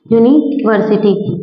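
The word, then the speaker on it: university: प य ये तो लिखा तो यू है है तो वोल है ना है तो वोल लेकिन हम इसे प्रोनाउंस क्या करते हैं यूनिवर्सिटी है ना यही प्रोनाउंस करते हैं अब ये जो य है क्या य स्वर में आता है नहीं आता ना यह किसम आता है आपके व्यंजन में आता है और यहां प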